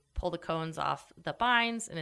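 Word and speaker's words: bine: the cones off the vines, and it's with B. I'm not saying it wrong. It is a vine, not a vine, based on the direction it goes.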